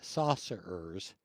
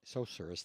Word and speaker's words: sorcerers: The pharaoh's saucers appear. Sorcerers. Thank you. How do you pronounce that?